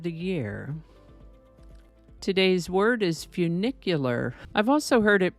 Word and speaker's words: funicular: year today's word is funicular I've also heard it pronounced with more of an oo sound like funicular but the dictionary says it's pronounced with the u sound sound like funicular so that's how we're